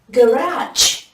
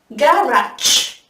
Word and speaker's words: garage: Garage.